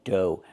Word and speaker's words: dough: Pronunciation do. Make the long O like no and go. And the gh is silent.